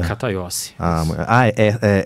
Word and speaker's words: Cataiossi: Cataiossi. É C mesmo, não Z. Não, C.